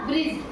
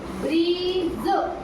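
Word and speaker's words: bridge: ब्रिज देखो हमने ड का उच्चारण ही नहीं किया। ब्रिज ब्रिज है ना हमने ड का उच्चारण नहीं किया क्योंकि जी से पहले डी आया।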